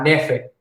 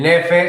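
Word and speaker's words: knafeh: En ese pan se sirve un postre muy famoso que se llama nefe. El nefe se escribe K-N-A, bueno, ahí está, nefe, muy bien.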